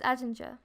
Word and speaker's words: Ettinger: love him so much Edinger is Ettinger yeah um but you